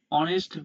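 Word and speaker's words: honest: আবার এখানে দেখুন অনেস্ট বানাতে প্রথমে এইচ আছে যা কনসোনেন্ট। কিন্তু উচ্চারণ করার সময় এইচ বাদ দিয়েও ওর মত অনেস্ট উচ্চারণ হচ্ছে।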